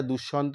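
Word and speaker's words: দুষ্মন্ত: এটা তরজমা করা হয়েছে তখন এটা কিন্তু রাজা দুঃসন্ত বলাই কিন্তু আমার মনে হয় ঠিক হবে এই গেল উচ্চারণের দিকটা আচ্ছা এবার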